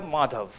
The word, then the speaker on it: Madhow: Mi esposa es de acá y voy con mi apellido, se pronuncia Madhow.